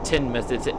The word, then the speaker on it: Teignmouth: It's still pronounced Teignmouth, as if it's Tinmouth.